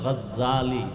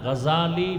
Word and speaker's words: গজালি: এইমাত্র তো বললাম আবু জাহল, জেহেল না জাহাল, নাম হলো ইমাম গজালি। বলে গজ্জালি না, গজালি বিশুদ্ধ উচ্চারণ, গজ্জালি না।